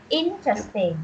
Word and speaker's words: interesting: things interesting things no not interesting is interesting interesting yeah the stress syllable is fast one interesting Vince just interesting interesting